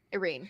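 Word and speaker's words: Yrene: a normal name knowing it no it's not it's spelled y-r-e-n-e Irene you know run rhymes with rhymes with her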